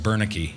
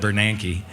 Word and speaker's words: Bernanke: I called him Bernanke, not Bernanke.